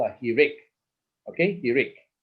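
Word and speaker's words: hiriq: this h-i-r-i-q okay and i emphasize at the eye here so it's easy for you to remember he rick okay he read okay some some books will spell it as kirik okay so don't worry about it okay just know it is eric or kirik right right so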